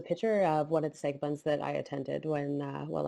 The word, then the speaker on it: Sagabun: are many different uh ways to spell psychobun pronounce sega bun and you could even spell it increase the